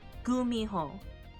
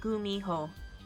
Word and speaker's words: Gumiho: Gumiho. No, thank you, autocorrect. There's two ways to spell it. Either with a G or a K. Phonetically, it's the same thing. There's an H in there too. Gumiho.